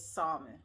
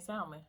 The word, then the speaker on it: salmon: of people say the L is silent and it's like salmon. It's salmon. It's not. We say it wrong, and it's okay because I'm gonna keep saying salmon with an L.